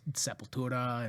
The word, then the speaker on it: Sepultura: incredible happy music together he got me into Sepultura yeah yeah I love the way you pronounce it yeah the correct way yeah the